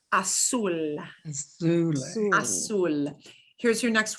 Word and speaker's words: azul: Azul, Zoo. azul. And the Z will sound like an S. The Z will sound like an S. There should be no buzz with a Z. Azul, Azul.